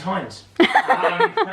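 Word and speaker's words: Heinz: better than without mentioning any names Hines without mentioning any names rhymes with shrines rhymes with scumbags no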